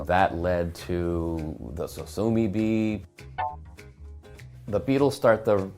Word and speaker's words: Sosumi: thought, yeah, it was Sosumi. And then I thought, that's actually the right name. I'll just have to spell it funny. So I spelt it S-O-S-U-M-I, and then I said,